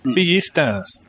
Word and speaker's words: Villistas: Yeah, we pronounce the double L like a sh. So it's Villistas here.